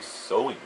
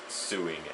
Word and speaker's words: sewing: Whenever I see the word sewing, the way it's spelled with an E, whenever I saw it during like speech class when they have us say certain words, I always said it, almost said it as suing at first before saying sewing.